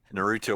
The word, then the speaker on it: Naruto: so white it hurts oh like in Inu Yasha and Naruto it's actually Inu Yasha